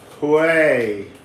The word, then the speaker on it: Hué: I keep asking everyone how to say it, and everyone says it differently. Hue. It's a bit like, yow.